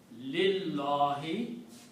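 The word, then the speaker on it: لله: going to take out it becomes lillahi the pronunciation is lillahi for okay so this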